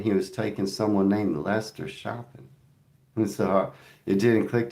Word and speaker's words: Leicester: He called it Lester and it threw me off.